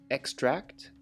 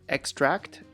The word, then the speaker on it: extract: The following 3 words have the same suffix tract: attract, extract, and distract.